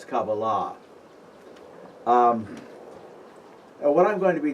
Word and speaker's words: Kabbalah: thing by the way any word in Hebrew ending in a H the accent is on the last syllable okay it's not Kabbalah Kabalah what I'm going to